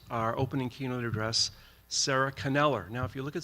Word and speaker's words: Kneller: And you would think like I thought that it was Neller, but it's actually Caneler.